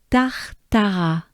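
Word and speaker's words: Tartaras: So first we go with tar, or I'm going to say tar, right? Just a breath. Tar, and your tongue doesn't move, it stays down. Tar. Take a good breath with me. Tar, tar. And we have it again. Tar. So we have tar, tar, like tartar, if you will. Tar, but it ends with a. So we have tartara, tartara.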